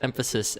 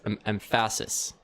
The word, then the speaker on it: emphasis: Jack pronounced emphasis as empasis or whatever he said because he doesn't say the word.